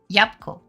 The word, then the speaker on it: Jabłko: There are reasons why, but that is legit how we pronounce it in daily situations. Jabłko.